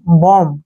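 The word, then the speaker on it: bomb: करेंगे यह बनेगा हमारा बी ओ एम बम क्या पढ़ेंगे इसको बम बम मीन क्या होता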